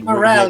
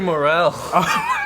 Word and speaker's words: Morel: we're here with Louis moral uh and Lou Morel you m Louis Morel mistake sorry doing that American version of yeah we're doing have pretentious French pronunciation quite I don't know why